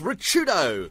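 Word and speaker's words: Ricciuto: get a room yeah even though it's actually pronounced richardo yeah it's Italian and a lot of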